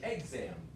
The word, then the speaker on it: exam: I don't think also I stress uh the word exam second syllable you say exam yeah not a big deal that's first syllable and iess the second syllable exam exam Hotel you